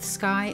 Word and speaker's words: scai: Continuing the theme of instruments named after Swiss peaks, our next generation of seismic recorders are scai (sounds like sky) and nair (rhymes with fire) in the GMS series.